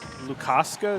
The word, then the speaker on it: Lukaska: So Lukaska, is that how I say it? Yeah, that's the pronunciation.